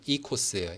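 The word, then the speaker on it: οἶκος: 여기 제가 적어놨는데 이제 요 앞에 오랑 아이랑 합쳐지면은 이 그리스 말에서는 그냥 이라고 읽는데 그래서 이코스예요.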